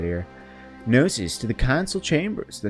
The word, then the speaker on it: Gnosis: It's pronounced Gnosis. Alright, Gnosis, noted. I was buying it from the Count Gnosis. See? I got it. Like gnomes.